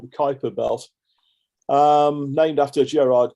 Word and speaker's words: Kuiper: And by the way, if anyone's wondering, it doesn't seem like Kuiper's spelt that way, but that is the way it's pronounced, according to somebody from the Netherlands who's told me a while ago.